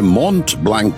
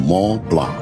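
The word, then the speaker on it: Mont Blanc: দেখতে পাবো তা পাবো তবে মন্ট ব্ল্যাঙ্ক নয় লালমোহন বাবু এখন ইউরোপে এসেছেন এখানকার দ্রষ্টব্য গুলোর নামের উচ্চারণ ঠিক করে করতে শিখুন ওটা হলো ম প্লা এটা আপনাকে হংকং এও বলেছিলাম সেই মশাই অনেক অক্ষরের কোন উচ্চারণই নেই ফরাসিতে সেটা খুব স্বাভাবিক লালমোহন বাবু বেশ কয়েকবার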